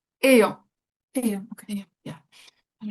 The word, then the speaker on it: ayant: Ayant une fille très protectrice qui n'avait jamais voulu